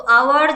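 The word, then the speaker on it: hour: তো আওয়ার যেটা, যখন আমরা এটা প্রোনাউন্স করছি তো কেমন আসছে? আ ও আর, আওয়ার, তাই না? দ্যাট মিনস এটা আ আসছে। যদি আ আসে সেক্ষেত্রে কিন্তু আমরা এন এর ব্যবহার করে থাকি।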